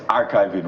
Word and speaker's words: Archivi.ng: laal is executive director archiving you have to get that right even though he archive. but it's archiving way you pronounce it in full thank you so much